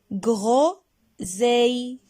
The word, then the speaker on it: groseille: Ce sont groseilles. Groseilles. Des groseilles. C'est un fruit. Et c'est un nom féminin. Mais là, on a féminin pluriel, car on a beaucoup de groseilles.